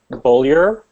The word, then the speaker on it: Bolder: and never forget okay it's bolder so you say boil your ass off without the ass off